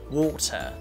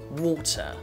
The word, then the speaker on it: water: and if you combine these two types of pronunciation its water water okay so let's practice with me Walter water